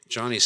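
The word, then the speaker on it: Joni: I know I mean Johnny's second book uh it's by the way it's spelled J O N I know it's sounds like I'm saying it's it's not Joanie it's Johnny it's how it's pronounced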